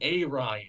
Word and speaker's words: Arion: I think it's pronounced Orion or Arion. Yeah, okay. It's a little too close to Aryan for me, and especially considering that Aquaman is such a blonde-haired, blue-eyed guy.